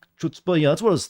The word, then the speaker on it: chutzpah: Bravery is omits chutzpah, pronounced like chutzpah.